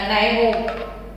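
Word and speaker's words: Nyholm: तो Gillespie and नाइहोम, यहाँ पे एल साइलेंट रखना, नाइहोम, 1957।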